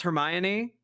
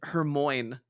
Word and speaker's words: Hermione: me was um Hermione I for the longest time did not know how to pronounce Hermione um for whatever reason I read it as Herm Moine and that is going